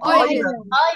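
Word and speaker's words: island: بتتنطق إزاي؟ ايلاند آيلاند.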